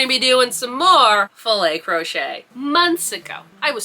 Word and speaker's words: filet: And they're just like, "Filt crochet? Is that how you pronounce it?" So, we got in this whole discussion about how do you pronounce it? You actually do pronounce it fillet crochet.